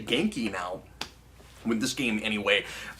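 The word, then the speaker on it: Ganke: here, and I guess I have to say Genki now, with this game anyway, because that's how it's pronounced here.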